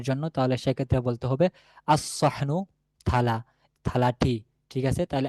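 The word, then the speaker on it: الصحن: তাহলে সেক্ষেত্রে বলতে হবে আসহনু থালা। থালাটি। ঠিক আছে? তাহলে আসহনু লামের কোন উচ্চারণ থাকবে না।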